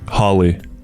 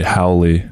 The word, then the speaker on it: Hawley: say your last name holly holly like hollywood oh okay i can call it i say howly yeah we've been definitely saying it wrong no i thought it